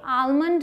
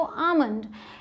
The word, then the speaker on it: almond: L silent है, लेकिन इसकी दो प्रोनाउंसिएशंस हैं, या तो आप आलमंड बोलिए या तो आमंड। अमेरिकन इंग्लिश में L साइलेंट नहीं है, वहाँ आलमंड बोलते हैं, और ब्रिटिश में आप L को साइलेंट बना सकते हैं और आमंड बोल सकते हैं।